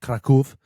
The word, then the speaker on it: Kraków: What you say, Krakow? Kraków. They pronounce it here.